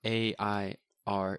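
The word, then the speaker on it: Eyre: Prejudice part two November 29th Jane Erie it's air J it is not a i r it's e y r e no it's that's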